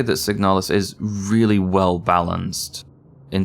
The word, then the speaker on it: Signalis: Signalis.